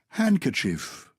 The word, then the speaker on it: handkerchief: there's a c there handkerchief yeah is there a d in handkerchief or not not the way we pronounce it actually i've got